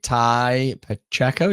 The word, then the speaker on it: Tai Pacheco: I'm your host Ellie Lee and I'm your host Danny Moley and today we're do joined by Ty Pacheco. Did I pronounce that right?